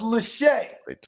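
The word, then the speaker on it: Lachey: Latche. I don't know. Lackey. Maybe it's lackey. 66 250. He didn't run a wacky until he proves himself. Red shirt is 13. Play 13 started. It's pronounced Lache.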